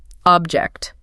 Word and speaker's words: object: And the last of the big three, object. As a noun, it's a physical thing. stress on the first syllable. Object. Object. A really clear sharp sound on the OB.